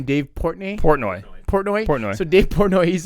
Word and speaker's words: Portnoy: Dave Poitney, or the pizza, the guy from Barstools? Barstool. Yeah. So there's an there's an episode of that where how do you say his name? Dave Portnoy.